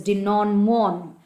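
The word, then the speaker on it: denouement: denom de non okay that is how you have to pronounce it it is de non mon and a solution or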